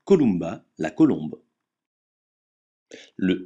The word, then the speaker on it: Columba: Jaguar exemple Yam déjà le M se prononce me comme dans mulot jamais nasalisé comme dans emporté exemple Columba la colombe le N